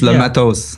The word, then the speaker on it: Matos: How do you say it? Because I say Matos, but like, is it Mato? No, you're close enough. It's Matos. Matos, like that?